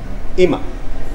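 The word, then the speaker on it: 今: ويعني الآن، ينطق بإيما ويعني الآن في هذه اللحظة. طبعا هذا الكانجي ايضا ينطق بنطق اخر كيو. هو كون بيتناقل في كلمه كيو تمام. ايوه ينطق ايضا بكون كون اللي هي اكيد تعرفون كونيتشيوا.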